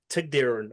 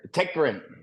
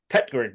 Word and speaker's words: Tägtgren: Anyway, boys and girls, put your hands together as we bring you the Chronicles of Peter Tägtgren. I've butchered that surname.